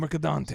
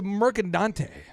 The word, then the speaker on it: Mercadante: It's a Mercadante. Yes. A lot of pressure. M-E-R-C-A, and then Dante, like Dante's Inferno, D-A-N-T-E.